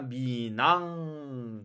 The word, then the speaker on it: 민항: 우리는 방금 전에 민항 이렇게 읽었는데 한국어로 써놓고 읽으니까 미낭 거의 흐 발음이 거의 나지 않고 미낭 민내 있는 니은 발음이 연음되어서 이어 읽기가 되어서 미낭 이렇게 읽힙니다.